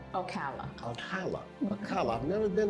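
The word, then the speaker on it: Ocala: How you pronounce Okola? Okala.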